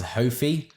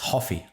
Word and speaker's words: Hofy: for because i remember some people some people pronounce it as hofi and i'm like no you idiots it's hoffy that's right it's hoffy it is hoffy um